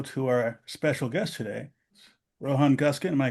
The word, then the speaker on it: Guskin: Rohan Goskin am I pronouncing your last name correct?